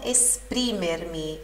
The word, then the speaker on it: esprimermi: A volte non so esprimermi. Esprimermi, sílaba tônica no pri.